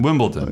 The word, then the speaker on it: Wimbledon: I say a soft T. Yeah. Is what I do. It's spelled with a D, but I say it. Wimble. There's like an implied T there, I think.